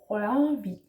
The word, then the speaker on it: Rørvig: Rørvig is with a slashed O and an R, and that is a diphthong, sort of like a two combination kind of sound.